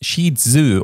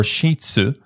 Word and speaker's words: Shih Tzu: dogs size and weight Shih Tzu pronounced in the west sheetzu or shiitsu the Chinese say Scherzer going between 9 to